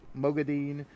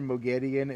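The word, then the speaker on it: Moghedien: I like saying mogodine, but I'm pretty sure Mogedian is actually how it's supposed to be pronounced within the books.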